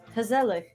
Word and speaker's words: gezellig: owl was saying, no, this is how you pronounce it. And that's where we learned gezellig.